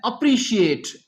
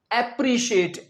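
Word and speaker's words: appreciate: एक और शब्द है अप्रिशिएट। इसे बहुत से स्टूडेंट बोलते हैं एप्रिशिएट। एप्रिशिएट नहीं होता। ये होता है अप्रिशिएट।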